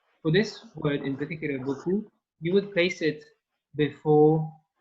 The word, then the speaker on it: beaucoup: And to say a lot, you say in French, beaucoup, beaucoup, beaucoup. So for this, we're gonna imagine in your head, you imagine your boss, and she or he has plenty of money in front. And so boss, the beginning, bo, is the trigger for beaucoup.